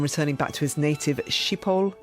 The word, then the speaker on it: Schiphol: back to his native Schiphol Airport? Would that be the right That's right, pronunciation?